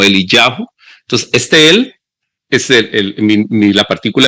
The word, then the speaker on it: Eliyahu: Y bueno, ahí en hebreo sería algo así, la pronunciación o la escritura del nombre como Eliyahu.